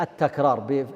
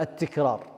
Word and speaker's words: التكرار: طبعا الصحيح التكرار بفتح التاء، بعضكم ينطقها التكرار، لا التكرار.